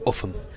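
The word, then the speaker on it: Ulgham: It's spelt Oldham. Yes. And it's pronounced Uffham.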